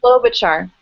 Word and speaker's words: Klobuchar: Klobuchar.